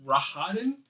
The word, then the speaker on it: Rahadin: fog, you hear another deeper laugh along with Rahadin's. What is that name again? Rahadin? I might be saying it wrong because I'm not looking at it. Rehadi.